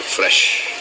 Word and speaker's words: FRSH: एक brand launch किया है हाल ही में, उसका नाम है फ्रेश। और फ्रेश की स्पेलिंग सुनो, FRSH।